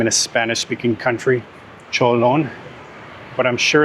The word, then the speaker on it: Chợ Lớn: I wonder where it got that name from because to me it sounds a little bit like Spanish. Like I would hear that name in a Spanish-sp speakaking country, Cholon.